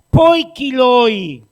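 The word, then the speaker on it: ποικίλοι: Hay algunos dominicanos que les cuesta la pronunciación, y en vez de decir por qué, dice por qué, es parecida. Poikiloi.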